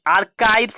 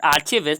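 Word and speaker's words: archives: तो अच्छे यानी स्पेशल इंस्टीट्यूशन बनने लगे, जैसे कि आर्काइव, this is नॉट आर्चिविस्ट, this is आर्काइव्स। आर्काइव्स इज the correct pronunciation.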